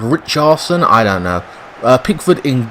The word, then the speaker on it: Richarlison: Now I call him Richardson. He's pronounced Richarlison.